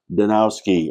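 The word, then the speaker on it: Zdanowski: Our special guest today is Walt Danowski. Am I pronouncing that correctly? That is correct. You dropped the Z.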